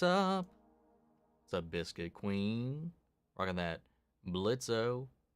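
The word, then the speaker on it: Blitzø: Rocking that Blitzo. Sorry, the O is silent.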